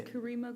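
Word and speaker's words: Carima: It's Kareema. Can you spell it out?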